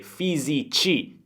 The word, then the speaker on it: fisici: ad astronauti, fisici, ricordate, fisici, C è un suono debole, quindi C-I, e altri scienziati.